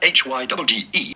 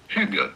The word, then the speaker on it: hygge: We are looking at how to pronounce in English or American this word spelled H-Y-G-G-E. How do you go about pronouncing it? Pretty straightforward. Hygge.